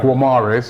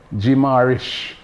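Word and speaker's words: Guimarães: Not Bruno Guamirez. It's Bruno Garish.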